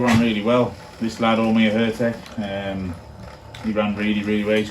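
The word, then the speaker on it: Ó Muircheartaigh: Yeah, we've had a few people saying they can't pronounce it. Omir Hertek is what we've been told.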